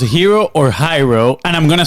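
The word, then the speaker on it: Hiro: before you start is it pronounced hero or hyro and I'm going to spell it hero okay I it's spell h i r o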